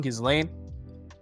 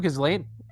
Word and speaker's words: Ghislaine: Next, 2-2 Ghislaine. So many Ghislaine cards. I think she's pronounced character... Ghislaine. Huh? You don't Is pronounce she Ghislaine? I think, yeah. Is it silent? S. Okay, whatever. Yeah, silent S.